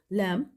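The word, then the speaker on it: lamb: knife right wrong of लैम इनमें जो underline words हैं जैसे के इसमें नाइफ में के राइट में डब्लू रॉन्ग में डब्लू ऑफर में टी एंड लब में बी यह साइलेंट लेटर है और बच्चों को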